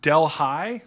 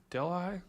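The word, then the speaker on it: Delhi: Omega so uh oh mama G says it's it's pronounced Del High wait what did I say did I say it wrong Deli oh gosh Mama G what was I saying oh oh Deli are you sure Mama G that's pronounced Deli Del High oh wait I guess I guess uh I guess she's right I don't know I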